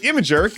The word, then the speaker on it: Imgur: loved that decision well now image hosting site imager yes that's how it's pronounced is doing the same thing imager will